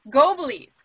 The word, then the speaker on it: Goblies: called as nathan is in the background um go belize right i said it right yeah yeah all